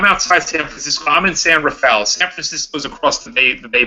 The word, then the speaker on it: San Rafael: It is pronounced San Rafael. It's really weird.